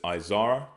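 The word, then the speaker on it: עזרא: Ezra, we pronounce as Izar or Izara. Okay, Izar or Izara. They pronounce it as Ezra.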